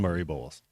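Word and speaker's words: Murray-Boyles: what Pringle and what uh uh is it Murray boas is that how you say it Colin Murray boas yeah I'm just I'm just M for Leicester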